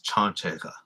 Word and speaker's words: chanchega: I used to say but it's chanchega the stress is on the first syllable so these are these